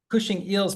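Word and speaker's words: Cushing Eells: Zahi, you're Cushing Eels, is that how I pronounce it? Yeah. Cushing Eels Professor of Philosophy and Literature.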